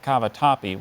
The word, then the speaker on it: cavatappi: rolls of toilet paper and 50 boxes of cavatappi was just a little extreme cavatappi are there any alternate pronunciations I see just the one cavatappi cavatappi